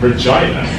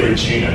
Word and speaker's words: Regina: And she said, you said Regina. Yeah, that's how I learned to pronounce that word back in Canada, because there's a place in central Canada called Regina.